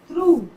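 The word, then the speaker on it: through: यहाँ पर जी और एच दोनों साइलेंट है, जैसे यहाँ थ्रू, थ्रू बोल रहे हैं, जी एच का साउंड नहीं हो रहा।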